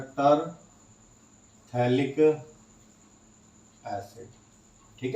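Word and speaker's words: phthalic: बोलते हैं थैलिक acid, लेकिन नेम किससे, पी से स्टार्ट होता है, तो पैथेलिक एसिड बोलेंगे इसको, थैलिक एसिड, पी साइलेंट होता है।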